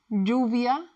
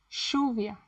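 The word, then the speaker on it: lluvia: In some parts in Argentina or Eurowite, it sound like a sh. For example, instead of jave is shave, juvia shuvia po. But if you stick to the sound, you will be understood everywhere.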